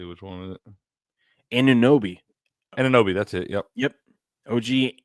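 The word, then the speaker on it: Anunoby: let me see which one is it anobi anobi that's it yep yep OG anobi sinks a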